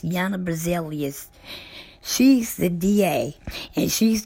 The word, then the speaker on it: Jana Berzelius: Jana Berzelius is how it's pronounced. Jana Berzelius.